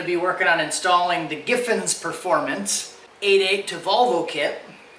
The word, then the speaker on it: Giffins: Griffins, and I was saying Griffins, and I didn't even realize that it was Giffins. It doesn't have an R in it, so I had my brain had my autocorrect on, and I was mispronouncing the name.